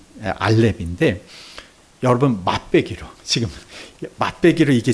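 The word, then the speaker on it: אלף: 우리가 어 발음 발음상을 이응 약 아주 약한 이응 발음으로 시작하는게 알파벳 알렙인데 여러분 맞배기로 지금 맛배기로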